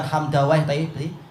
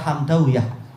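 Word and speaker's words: حمدويه: Demikian pula yang lain-lain, bukan Hamdawayh tapi Hamdawiyah. Begitu cara mereka membacanya memang.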